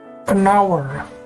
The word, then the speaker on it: hour: Kata-kata berikut menggunakan artikula atau artikel ein, bukan e, karena konsonan h yang merupakan awalan dari kata-kata ini, dari kata daftar ini, kata-kata ini tidak diucapkan. Kita lihat, an air, an hour, an honor, sebuah kehormatan, 1 jam, dan seorang ahli waris.